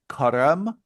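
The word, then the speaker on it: Carême: I pronounce it Careme.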